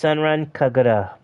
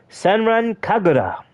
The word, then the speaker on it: Senran Kagura: wow you're as old as my brother-in-law Joey pronounced senren kagara senran kagura base boom yeah my brother-in-law uh the man